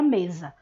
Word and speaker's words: mesa: então a letra Z, porque é o som que a gente emite ao pronunciar a palavra mesa. Você não pronuncia mesa, você pronuncia mesa. Por esta razão, o S da grafia, o S escrito, é representado no fonema pelo fonema Z.